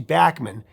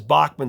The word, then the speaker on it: Bachman: live show with him it's actually bman but most people know it as Bachman so he goes with Bachman so I'm going to say it that way so moving ahead to